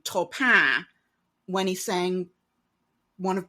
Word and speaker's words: Taupin: I wonder if any of the songs that we love are secretly about Frank Sinatra doing the correct French pronunciation Topin when he sang one of Bernie and Elton's songs.